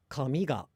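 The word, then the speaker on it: 髪: But then the word for hair and paper, I believe, are both pronounced low, high, low, with the particle attaching low.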